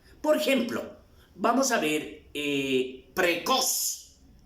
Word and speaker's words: precoz: Por ejemplo, vamos a ver precoz. La mayor fuerza de voz está en cos.